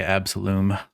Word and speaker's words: Absolum: Absalom or Okay. Absolum. They Yeah. say it in the trailer, and they say Absolum.